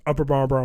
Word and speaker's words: Upper Marlboro: And every single person pronounced Upper Marlboro, Maryland as Upper Marlboro, Maryland. And it was just like one really long word.